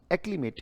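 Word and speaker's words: acclimate: उच्चारण क्या है, एक ली मेट, ये उच्चारण है बेटा इसका।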